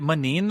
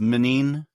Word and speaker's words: Moneen: Wait, is it Manin then? Am I have I been saying it's actually it's supposed to be pronounced minine like min who can understand